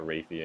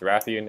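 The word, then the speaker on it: Rathian: Raffy and in ratha it's not rapey and or anything it's Ratheon and rathalos in case running my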